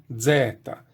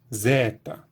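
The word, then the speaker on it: ζῆτα: gente teria deta deta há quem defenda que isso eram Z Então seria Zeta e ela também tem pronuncie mesmo no grego antigo essa letra sua mente como Z Zeta a produção moderna e sempre Z tá mais é esse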